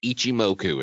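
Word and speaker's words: Ichimoku: to talk about is Ichi moku and no I didn't sneeze that's how it's pronounced um you're in the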